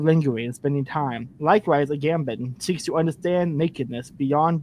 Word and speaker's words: Agamben: Agamben.